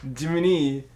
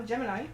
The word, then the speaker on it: Gemini: Jiminy. No, Gemini.